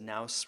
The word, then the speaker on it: Knouse: nause it's spelled my last name is naos with a k so it's k-n-o-u-s-e dot